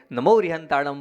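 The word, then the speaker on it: णमो अरिहंताणं: का ना नहीं है तो इसका उच्चारण कहां से होता है जीभ को जब आप पीछे ले जाएंगे वहां से ण का उच्चारण होगा आपने न बोला है नमो अरिहंतानम बोला है नमो अरिहंतानम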